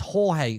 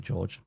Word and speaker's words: Jorge: Oh, it's Jorge. Sorry. I don't know why I pronounced it, George.